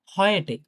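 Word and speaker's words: heute: এ ইউ থাকলে অনেকটা আমরা বলি না যে হচ্ছে আ আ অয় বলে না বাংলায় একটা অয়? যদি উচ্চারণ করি। ওই আমরা ডয়েচে অনেক কিছু আছে, যেরকম অয়জার্ন আছে, হ্যাঁ? অনেক কিছু আছে ডয়েচে, কিন্তু বাংলায় মনে আসতেছে না। অয় অনেকটা অয়ের মতো উচ্চারণ হয় এরপরে ইউ থাকে।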